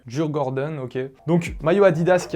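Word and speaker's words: Djurgården: m'excuserez pour la prononciation on va essayer d'écouter la prononciation dans la langue adaptée dur Gordon ok donc maillot adidas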